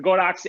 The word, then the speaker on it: Godox: be something like an Alien B or the Godox, I almost said it wrong, the Godox AD200, or some other, bigger, technically portable but fairly large, like studio flash unit.